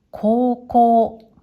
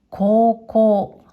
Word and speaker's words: 高校: これは、高校、高校。